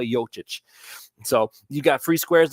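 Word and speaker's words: Jokić: is on right now Y yic is yic I gotta say it right Nik nicoa yic so you got free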